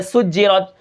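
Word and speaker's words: سجّرت: ہے وہ ہے سجرت۔ یہاں پر دیکھیں سین کی سیٹی کو ہم برقرار رکھیں گے اور سین کو جیم کے ساتھ ملا کر پڑھیں گے، وہ اس لیے کہ جیم کے اوپر شد ہے، یعنی تشدید ہے۔ سین جیم پیش سج،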